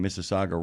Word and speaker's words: Mississauga: Yeah, and I give you points for pronouncing Mississauga right.